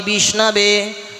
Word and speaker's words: বিষ্ণবে: আছে কি লেখা আছে বলে দেখ মূর্খামবাদা ধীরবাদাতি বিষ্ণবে দয়ারেবামপ ভাবগ্রাহে জনারদানে আপনারা যারা একটু কম বেশি